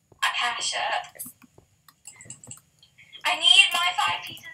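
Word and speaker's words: acacia: five more pieces of aasha wood it's AA aasha wood it's per it's pronounced ACAA acasha I need my five pieces of aasha wood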